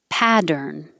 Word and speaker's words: pattern: Pattern. The T's changed to D.